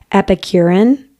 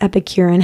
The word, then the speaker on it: Epicurean: I think it's Epicurean is how you say it, but it's Epicurean happiness.